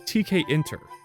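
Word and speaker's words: Tkinter: Kinter. Okay, I guess it's TK interface. Oh, so it's TK inter.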